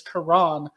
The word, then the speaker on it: Karan: name slightly wrong it's the emphasis is on the second syllable so his first name is Karan um so the more